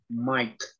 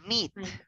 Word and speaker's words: might: Might. Might. Might. That's awesome. So Might. it's not meat, but right? It's not meat, right? It's might.